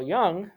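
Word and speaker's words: Jung: a student of his carl young which is spelled j-u-n-g believe that the mind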